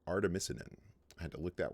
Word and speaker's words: artemisinin: synthesis of this compound this drug that's called artemisinin i had to look that one up as far as the pronunciation goes but that is correct now one